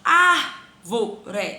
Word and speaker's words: árvore: Árvore. Eu tenho o vó e eu tenho o ré. Última, ré. Penúltima, vó. E a antepenúltima é o ar, que é a minha sílaba tônica.